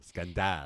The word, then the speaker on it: scandale: The French way of pronouncing scandal. Scandale.